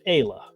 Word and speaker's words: Aayla: I believe that Ayla in some cultures is pronounced Isla, and it's Aayla that's pronounced Ayla. Like there's a Star Wars character named Ayla Sakura, and hers is Aayla.